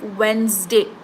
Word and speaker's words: Wednesday: D silent we pronounce it as Z Zed pronounced Mar T like Wednesday okay Wednesday walk right L is silent what